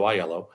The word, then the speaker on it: Aiello: when someone says hello my name is iello thank you for pronouncing it correctly by the way Rebecca and